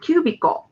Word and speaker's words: cubicle: And the next cubicle. Q U/BII/ko. So U is open, B is open, Q long U, BIIU, QB/ko. Cubicle. The middle syllable is short.